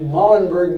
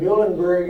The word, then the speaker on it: Muhlenberg: And Muhlenberg might be a good way to pronounce it also, but typically in English we said Muhlenberg, and as I said earlier, the German would be Muhlenberg.